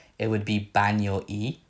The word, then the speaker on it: Banyai: pronunciation, it would be Banyoi. The last two vowels would not be connected as one.